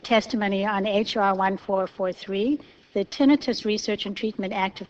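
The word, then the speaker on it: tinnitus: very important issue um the issue of tinitus sometimes pronounced tenius and it's especially important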